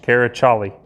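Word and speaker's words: Karaçalı: That C with the little squiggle at the bottom is a Turkish character, but it's pronounced with a CH, Karaçali.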